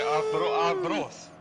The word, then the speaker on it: Arbroath: Arbroath? Yep. That's how it's pronounced, isn't it?